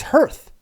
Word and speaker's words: hearth: Well, look up the word hearth, Dave, and you'll learn how to pronounce it. I have. It's because the hearth. It's hearth.